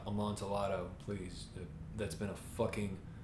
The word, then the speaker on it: Amontillado: Even if he does fuck up the pronunciation of Amontillado, it's not Amontillado, please.